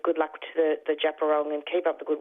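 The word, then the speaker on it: Djab Wurrung: It's actually Japarong. So yeah, when I read that article, I was mispronouncing it. So just to to actually rectify that error, it is the Japerong embassy. So it's pronounced Japarong.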